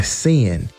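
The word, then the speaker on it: Cynn: we have learned by sin and sin is spelled c y NN last but not least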